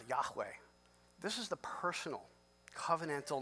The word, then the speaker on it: Yahweh: hey Val hey this is what it will pronounce a Yahweh this is the personal covenantal name of God